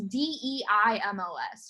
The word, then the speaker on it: Deimos: It's Deimos, right? Yeah, Deimos. Oh, Phobos for fear, like phobia.